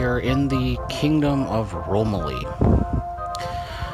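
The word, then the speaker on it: Romaly: We are in the Kingdom of Romilly. Or Romanly, actually. I believe that's how it's pronounced.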